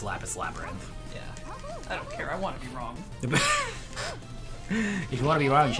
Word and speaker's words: Lapis x Labyrinth: this is lattice labyrinth you don't say the axiom yeah I don't I don't know what's up with that like yeah pretty X is silent yeah we can't say lack of sex laughs we can't say well that's technically yeah technically lapis xlab red is wrong it's lapis labyrinth if you wanna be